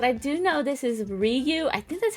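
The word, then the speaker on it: Ryu: but let's go and double check survey says Ru from Street Fighter is that's how you pronounce it and coming in with number 16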